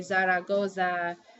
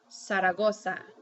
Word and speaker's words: Zaragoza: start with an s so like you wouldn't say Zaragoza you would say saragosa now you'll see I